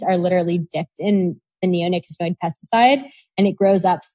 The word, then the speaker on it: neonicotinoid: Can you stop using your neonicotinoid?